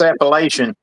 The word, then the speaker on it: Appalachian: or appalachin appal where depends on where you're from how you say it Kentucky it's Appalachian hey I'll tell you